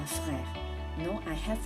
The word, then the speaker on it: frères: As is silent, j'ai 3 frères.